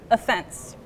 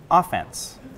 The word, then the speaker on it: offense: so she put the stress on the second syllable offense but if you want to talk about a sports team trying to score points you might put the stress on the beginning and say offense offense is a kind of irregular word in